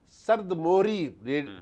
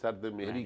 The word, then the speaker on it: سرد مہری: تلفظ کا پتہ نہیں۔ اسی طرح سے سرد موہری ٹی وی کے اوپر بہت سے اینکر جو ہیں وہ سرد موہری کا لفظ استعمال کرتے ہیں سرد مہری کے بجائے۔ پرانے زمانے میں جب